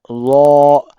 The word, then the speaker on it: ظ: Law. The same place where they are pronounced law and dal, but dal in a thick or in a thin sound and law in a thick sound.